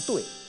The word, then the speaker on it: 敦: 你比如伦敦的这个敦啊，它如果在青铜器中它就念对啊，就念对啊。